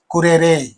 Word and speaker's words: currere: Select the correct meaning of the Latin word currere. You know that very well. Currere. Currere. This is how you have to pronounce this word.